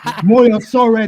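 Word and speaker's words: Moyosore: I don't pronounce my name like that. My name is Moyo Sore.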